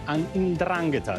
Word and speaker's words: 'Ndrangheta: Now, all the defendants were affiliated to the 'Ndrangheta, the organized crime syndicate from the southern region of Calabria. This is how you pronounce it, actually.